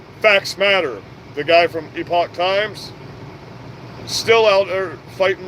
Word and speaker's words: Epoch Times: if you have Epoch times everybody calls it The Epic Times but it's pronounced Epoch times um epics not spelled the same way as